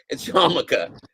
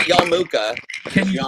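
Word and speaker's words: yarmulke: how to pronounce yamaka it's yamaka it's not it's not Yuka spell it because most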